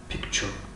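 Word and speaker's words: picture: و حرف تی و یو گوهو صدای چ چ چ چ را دارد، مثل کلمه پیکچر پیکچر پیکچر پیکچر رسم.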